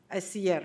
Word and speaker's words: Siller: He'll be talking, and Evelio, is it, I always say Siller, but is it, I don't know how to pronounce. Siller, right? Yeah.